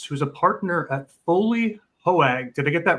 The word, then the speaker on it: Hoag: We are here with Jeff Schultz, who's a partner at Foley Hoag. Did I get that right, Jeff? Hoag.